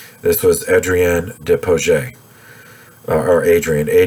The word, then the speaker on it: Adrien: for new orleans this was adrienne deposit or adrian a d r i e n the french